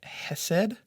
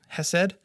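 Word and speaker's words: חסד: word um this is the the Hebrew word Hesed um has said and kindness is how it's often translated throughout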